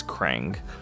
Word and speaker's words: Krang: I've been saying Kang, by the way. It's Crang.